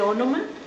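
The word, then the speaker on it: ὄνομα: Entonces, bueno, ahí les pongo también el nombre, se dice ónoma, porque es un elemento muy importante, ¿verdad?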